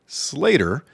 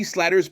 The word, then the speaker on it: Slater: And uh anybody that's watched Say by the Bell knows it's AC Slater and uh sometimes they'll they will mispronounce something. An amazing game, only giving up three runs. Absolutely. AC Slatter's pitching was brilliant.